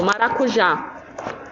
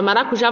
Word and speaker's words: maracujá: para diminuir aqui tá então a palavra maracujá você vai acentuar o já certo é um maracujá Tá vendo como a sílaba mais forte e é oxítona né então é isso Pessoal